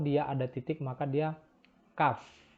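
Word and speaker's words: כּ: Kalau dia ada titik, maka dia Kaf. Jadi kalau tanpa titik, transliterasinya adalah KH. Dengan titik itu adalah K. Kaf dan Khaf.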